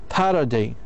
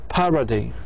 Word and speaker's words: parody: If both the second and the third syllable are weak, the stress will go to the first syllable. Parody. لاحظوا. Pa. Ra. Day. Parody.